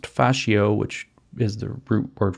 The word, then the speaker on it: fascio: You know, like the ropes or the strings that you would use to bind together a bundle of sticks, which in Italian is pronounced fascio, which is the root word for fascism.